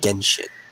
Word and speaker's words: Genshin: I don't know why I want to pronounce the G like a J. Because you see G and then an E, and you think it's supposed to have the J sound. But this is pinyin for Chinese, right?